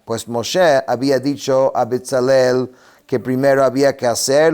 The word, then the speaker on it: Betzalel: nombre es betzel Kel betzel Kel significa o sea se pronuncia betzalel en la sombra de